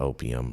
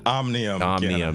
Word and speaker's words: Omnium: No, it's not opium, bro. But Omnium. Yes, Omnium. Yeah, I have someone that